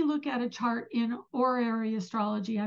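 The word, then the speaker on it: horary: at a chart in or area astrology I pronounce it or Airy because I have French background and the H is silent so um that it's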